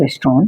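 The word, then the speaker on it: restaurant: तो रेस्टोन इसका main pronunciation होता है रेस्टोन क्योंकि टी साइलेंट रहता है। टी को हम नहीं पढ़ते हैं।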